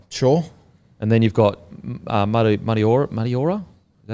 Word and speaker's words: Mariota: And then you've got Mariora. Is that how you say it? Mariota.